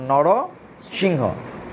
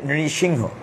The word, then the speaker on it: নৃসিংহ: অর্ধেকটা মানুষ, অর্ধেকটা সিংহ, এই জন্য তার নাম নরসিংহ, বা আমরা সংক্ষেপে বলি নৃসিংহ। নৃ উচ্চারণটা খুব কঠিন, নৃপেন্দ্র, নৃত্য, নৃ দিয়ে উচ্চারণ করা কঠিন, এই জন্য আমরা বলি নরসিংহ।